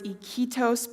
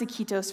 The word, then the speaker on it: Iquitos: So you can imagine my surprise when I open my mission call and I read the words Iquitos, Peru. In fact, I didn't even pronounce Iquitos right. Iquito, Peru.